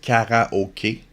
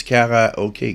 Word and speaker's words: karaoke: in exact French is car okay but it's Cara okay Cara okay Cara okay I go to an English bar we sing karaoke we go to my French bar it's K slight difference in pronunciation but same pretty much the same everybody knows it's K